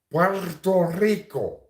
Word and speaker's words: Puerto Rico: to see them suffer Puerto Rico Puerto Puerto Rico is how you say it in Spanish if you want to